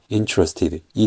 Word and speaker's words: interested: 점이 이게 강세 표시거리이 첫 번째 음절에 강세가 있다는 거예요 그래서 영어 단어에서는 항상이